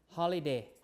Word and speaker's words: holiday: There are 3 syllables here, right? This syllable will be shortened because there are. If you compare that with the word holy, so holy. You have 2 syllables, right? This is open, this is open. You lengthen ho, right? But for holiday, you don't lengthen this, right? You shorten it. That's why you pronounce them differently.